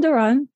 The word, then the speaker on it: Dawrant: So Dawrant, do I pronounce it correctly?